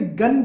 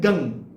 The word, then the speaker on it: गं: ओम तो लगभग हर कोई बोल लेते हैं, जब बात आती है गंग बोलने की तो कई लोग इसे गन कहते हैं, न का उच्चारण आगे करते हैं, गन। कोई लोग गम भी कह लेते हैं, गम गणपतये नमः। एक्चुअल में ना वो न है, वो गन नहीं है, वो गम भी नहीं है, वो है गंग।